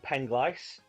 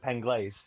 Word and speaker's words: Penglais: than anyone else uh the main hill was called penglice but a lot of people penglaze would not would call it penglaise yeah until they'd heard